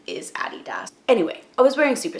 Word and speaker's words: adidas: boots I have a DDoS adidas people say adidas here and actually the correct pronunciation is a DDoS anyway I was wearing super stars they're fine